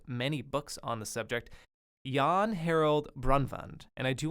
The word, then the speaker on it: Jan: of a faux pas I constantly pronounced the folklore's name as yeah not yawn but jean Harold Broadband um my apologies that's not how you pronounce his name but he has written